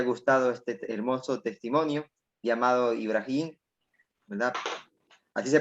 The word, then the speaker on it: Ibrahím: que les haya gustado este hermoso testimonio llamado ibrahim así se pronuncia verdad si amado el brain y amado